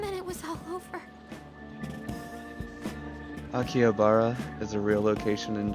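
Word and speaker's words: 秋葉原: Akihabara. Oh. The R is rolled. Akihabara.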